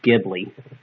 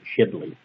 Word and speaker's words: Ghibli: and yes it's pronounced Ghibli um The Studio Ghibli actually put the H in their Studio name so that we speak